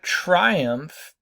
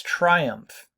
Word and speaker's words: triumph: Well, what's triumph? And notice it's a very strong stress. Triumph. 2 syllables. That try gets a very, very strong, hard stress. Triumph.